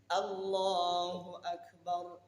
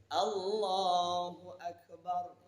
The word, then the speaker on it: Allahu Akbar: Allahu Akbar. Itu bacaan yang tartilnya seperti itu. Allahu Akbar. Ada orang yang membacanya Allahu Akbar. Ini otomatis sholat ketika itu batal.